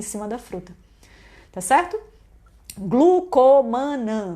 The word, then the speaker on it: Glucomannan: Glucomannan, do jeito que eu falo. Só que se escreve o quê? Tem 2 N's.